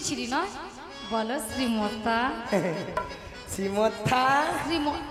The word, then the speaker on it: শ্রী: আরে মাসি ওনার নাম ছিড়ি ছিড়ি নয় বলো শ্রী শ্রী শ্রী সিরি হ্যাঁ সিঁড়ি সিরি যেন সারে